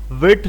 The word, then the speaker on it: Vite: तुम्हारे पास यहां पर अगर इसकी प्रोनाउंसिएशन यहां पर पढ़ोगे इसका फ्रेंच वर्ड की ट्रांसलेशन भी पढ़ोगे तो यहां पर देखो विट फ्रेंच वर्ड फॉर क्विक यानी कि नाम ही